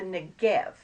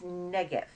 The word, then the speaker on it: Negev: And if you talk about the Negev, it's not Negev, it's Negev. And that happens to be a word that means dry land. So if you say the Negev desert, it's the desert.